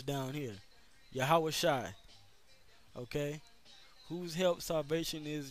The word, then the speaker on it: Yahawashi: that's the name of the heavenly father's son yeah how was shy okay that's how you would correctly pronounce the name of the lord um the